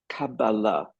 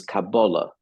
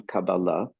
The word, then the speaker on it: Kabbalah: The word Kabbalah, which is the modern Hebrew pronunciation anglicized, and the more colloquial pronunciation of older times is Kabbalah. But I'll use the modern one, Kabbalah, just for the sake of being consistent here.